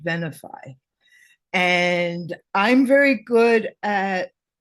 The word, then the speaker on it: Venafi: years and I said I think venafi and they correct to be no no it's pronounced vanify and I'm very good